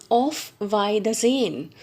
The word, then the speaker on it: Auf Wiedersehen: She answers back, and look at this word, how it is to be pronounced. She says, "Auf Wiedersehen, goodbye."